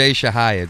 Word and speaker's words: Chahayed: It's Shahayib, but it's close enough. Shahayib. Yeah. All right. It's a double thing. Yeah. It's a French and Arabic.